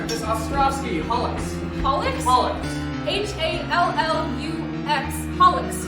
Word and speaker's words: hallux: Miss Ostrovsky, Hollix.